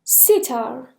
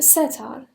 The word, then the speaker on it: sitar: sitar or setar. هم سیتار تلفظ میکنن هم ستار. sitar or setar. اوکی؟